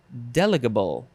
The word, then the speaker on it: delegable: word is deligible deleggable but the emphasis is on the first syllable delegable I think that's what